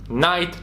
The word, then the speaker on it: night: okresie wczesnego nowa angielskiego wiele liter przestało być wymawiane na przykład słowie not w słowie sword oraz gh w takich słowach jak night czy dobre kiedyś pojechać z nią